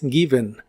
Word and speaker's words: given: Es given. La e de esta palabra es un sonido vocal suave de relleno llamado sh en inglés. Es como una e suave.